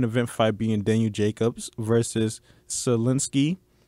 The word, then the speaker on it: Sulecki: card the main event Fabian venue Jacobs versus Solinsky it's pronounced Solinsky I know a lot of people they was